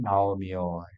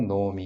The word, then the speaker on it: 나오미: 아니겠느냐 이렇게 이제 보입니다 그래서 그의 아내 이름은 나오미 웨시 시토 노미 이렇게 얘기합니다 그 엘리멜렉의 아내 이름은 나오미 노미라